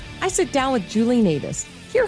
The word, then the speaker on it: Nataas: And today I'm talking with Julie Nataas. That's how we're saying it, right? Yes, that's how you say it.